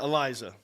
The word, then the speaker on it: Eliza: it eliza that's how you say it yeah eliza eliza okay um i don't i'm not that